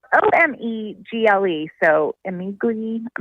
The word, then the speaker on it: Omegle: So the website, it's spelled O-M-E-G-L-E.